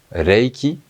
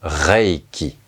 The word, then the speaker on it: Reiki: on ne l'entend pas c'est un L c'est Reiki et non pas Reiki la langue tape au palais vous pouvez vous